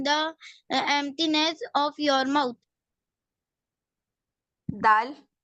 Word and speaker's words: دال: دال. It is pronounced when the tip of your tongue touches the roots of your top front teeth.